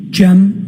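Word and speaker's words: Cem: I also spell it uh with a G. G E M. And could you tell us your name, sir? Jim.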